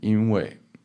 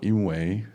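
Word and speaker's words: 因为: So Jeff Johnson on Vocab Unlocked for in, which means reason, cause, and 因为 or 因为, it's pronounced both ways, but usually 因为 with a fourth tone, which means because, right?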